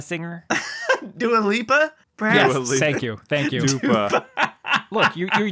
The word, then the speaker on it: Dua Lipa: Is Dupa, is that a singer? Dua Lipa? Yes, Perhaps. Dua Lipa.